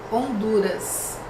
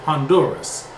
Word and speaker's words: Honduras: that will be France Honduras ah Honduras okay so for us spelled exactly the same in English but we say Honduras notice that in Portuguese the letter H is mute and in English it